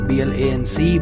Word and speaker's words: blanc: B-L-A-N-C will pronounce as a blanc.